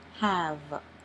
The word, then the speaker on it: have: So this digraph VE makes the sound V. H, A, V, have.